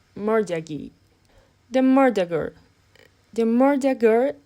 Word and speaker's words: mortgagee: mortgage loan transaction it is pronounced more Jaggi the murderer the murder